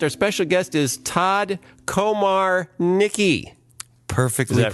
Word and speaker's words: Komarnicki: special guest is Todd Komar Nicki perfect that pronounce this word Nicki he said pronounce it like there's a hyphen in the middle which there isn't but unpretending don't